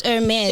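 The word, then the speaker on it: Hermès: the, It's the Hermes Birkin bag. So it's a woman's bag. Oh, so it's not Hermes. We're saying it wrong. Yeah, it's Hermes. It's It's Hermes. French.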